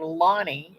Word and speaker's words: Lani: My name, Lonnie, is spelled Lani, which is a Hawaiian name.